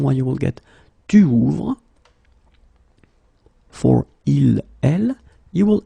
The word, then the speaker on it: ouvre: And that's the reason why you will get tu ouvres. For il, elle, you will add E, ouvre. Okay, so basically you get the same phonetical form here. Okay, it's the same pronunciation, but you should